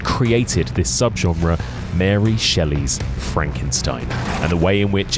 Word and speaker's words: Frankenstein: No, it's pronounced Frankenstein.